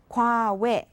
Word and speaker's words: 과외: 과외. How's the pronunciation so far?